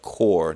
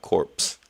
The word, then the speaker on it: corps: SGT says it's pronounced core, not corpse.